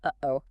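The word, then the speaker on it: uh-oh: Think about the sound in the middle of uhoh. Uh pause. Oh, that little catch in the throat.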